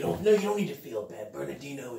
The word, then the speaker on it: Bernardino: Bernadine. She sometimes has difficulty pronouncing Bernardino. Bernardino. It's all right. You don't need to feel bad. Bernardino, it's you'll get it one day.